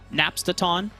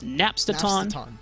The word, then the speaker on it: Napstaton: a uh apology to napstaton who I was mispronouncing the name last week as nap Staton I saw the comments afterwards I apologize King I will try to remember it is napsterton I'm not gonna lie